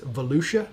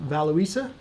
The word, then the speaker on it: Volusia: case that happened in valuesa County I've been told it's Volusia County in Florida but I pronounce it valuisa because it makes more sense to me from the south here